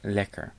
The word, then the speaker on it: lekker: In the second word there's a double consonant, hence the first E is short, so it is pronounced lekker.